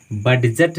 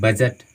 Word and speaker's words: budget: है सो साइलेंट है, हम इसको बडजट नहीं पढ़ते हैं, हम इसको पढ़ते हैं बजट, है ना।